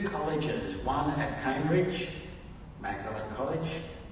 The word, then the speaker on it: Magdalene: one at at Cambridge Magdalene College sorry Oxford and and mlin college at Cambridge both different ways of pronouncing her name the Magdalene so right